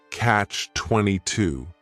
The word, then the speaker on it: catch-22: The word catch is just one syllable, and then 22 is 3 syllables, and the stress is on that final syllable, catch 22.